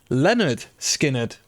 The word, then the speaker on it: Lynyrd Skynyrd: Lynyrd Skynyrd, pronounced Lynyrd Skynyrd, is the album we're listening to.